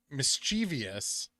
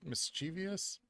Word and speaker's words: mischievous: I after the v i don't say the I after the V I say mischievious thus misch Vios did I say V mischievous h i do pronounce